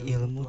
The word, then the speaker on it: ilm: Langsung saja kita mulai di pertanyaan nomor 1, yaitu definisi dari ilmu Tuhan dan manusia. Ilmu secara bahasa itu dari bahasa Arab, ilm, ain, lam, mim gitu ya, dibacanya ilm, merujuk pada pengetahuan yang sistematis dan terorganisir yang diperoleh melalui studi, pengamatan, dan eksperimen.